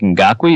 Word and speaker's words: Ngakoue: I think some of this has to do with Yannick Ngakoue. Is that how you pronounce his name?